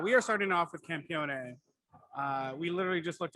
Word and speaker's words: campione: the end but um the italians do pronounce the e yeah is italian for